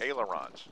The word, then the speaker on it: ailerons: Ailerons. Aons. Ailerons. Aons. How do you spell that?